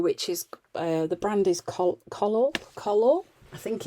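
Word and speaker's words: Collall: is the brand is color color i think it's color it is it's spelt c o double l a double l um it's an absolutely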